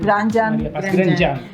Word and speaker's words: Grandjean: ¿Cómo se dice? Grandjean. Grandjean. Mais il se dit Grandjean. En chileno yo lo digo nomás Grandjean.